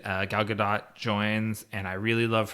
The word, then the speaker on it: Gadot: you said uh gal gadot joins and i really love her and is it gadot or gado it's good dot yeah okay it's not french i've heard media say